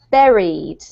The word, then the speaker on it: buried: all but it's actually buried buried yeah yeah so the word Barry actually rhymes with the word very and most of you